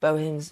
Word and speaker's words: Bohin: Oh, Karen says Bohins. Is that how it's pronounced? Bohins all the way.